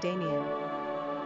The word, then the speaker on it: Damion: Pronunciation: Damian.